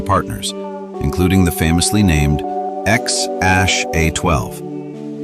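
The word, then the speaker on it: X Æ A-12: He later had twins and triplets with Justine, and several kids with Grimes and other partners, including the famously named Xash A12, pronounced Xash A12, and Exadaritol Musk.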